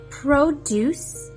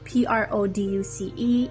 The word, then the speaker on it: produce: Produce. Say it with me. Produce means fruits and vegetables. Although it's spelled P R O D U C E, it is pronounced produce.